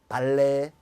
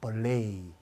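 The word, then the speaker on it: ballet: 발레 아니고 벌레이, 부페 아니고 버페이 이렇게.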